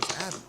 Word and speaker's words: ABBBBK: ABBBBK, which fans later decided to pronounce as Abby.